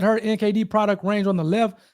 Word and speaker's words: NKD: It's pronounced NKD. It's spelled NKD.